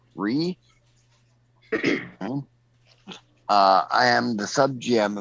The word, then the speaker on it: Righ: I'm known online as Ree, which is spelled exactly as it sounds, R-I-G-H, Ree.